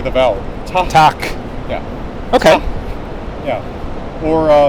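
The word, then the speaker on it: takk: double P, double T, you pronounce it basically like English, but there's a breath of air before you say it. So to say thank you, T-A-K-K. Yeah. Same in Norwegian, for example. And in Norwegian it's tak, and Icelandic it's tak. Breathe, like It's like you say an H, like you're going to start another syllable Okay. that starts with H.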